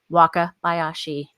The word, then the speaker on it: Wakabayashi: your videos today so waka bayashi that is a hundred percent right wakabayashi wow i like